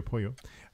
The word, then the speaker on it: pollo: poyo or pollo pollo how it is written but it's pronounced poyo poyo it's really changing well